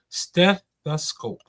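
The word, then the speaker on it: stethoscope: Slow down and break it down into three syllables and hit the step hard. Steth the scope.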